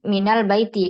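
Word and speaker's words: من البيت: ini kita lanjutkan Nah di sini menjadi Minal Baiti karena ada huruf Min kemudian almasjidu almasjidu apabila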